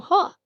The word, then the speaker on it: は: H plus A gives you ha. It's a perfect little visual cue. And look at that. Here it is in a real word. Hana, which is pronounced hana, it means flower.